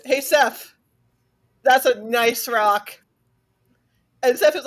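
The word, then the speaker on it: gneiss: over him and said, "Hey, Seth, that's a nice rock." And Seth is like, "What's so nice about it?"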